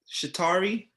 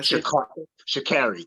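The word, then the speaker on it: Sha'Carri: shocked like if if i knew shitari my shakiri that's actually how you say it i knew and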